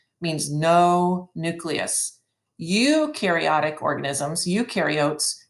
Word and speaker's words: eukaryotes: no nucleus eukaryotic organisms eukaryotes you rhymes with do which means they do